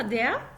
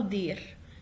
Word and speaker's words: der: طيب عندي der ممكن انطقها داع او دير. هتقولوا لي اني نطق صح؟ الاتنين صح عادي خالص، اقول داع او داع.